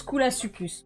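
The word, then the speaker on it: Koolasuchus: Tu le prononces Coulasuchus. Ok, quand c'est CHUS, c'est CUS.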